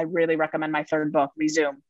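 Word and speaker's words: Rezoom: And for anyone who is hearing themselves in my words, I really recommend my third book, Resume. Because it's spelled R-E-Z-O-O-M, like resume, do it fast, resume.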